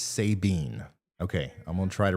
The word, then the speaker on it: Sabine: is an accident and savine is Sabine okay I'm gonna try